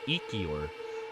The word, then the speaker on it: Ikior: man, I forgot how to pronounce it. It's Ikior.